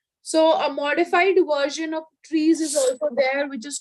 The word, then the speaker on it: trie: So a modified version of trees is also there, which is called as, it's again pronounced as tree, but it's written as TRIE.